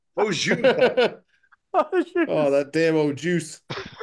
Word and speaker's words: au jus: Having it's like an au juice with your roast beef sandwich. Au juice. Yeah. Don't pronounce the S. Au jus. Au jus.